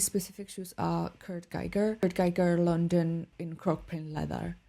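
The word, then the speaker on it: Kurt Geiger: shoes are Kurt gerer Kurt Giger London in Crock pain leather Kurt Giger is a British company but named after its Austrian founder hence the German Austrian pronunciation Selena Gomez is mael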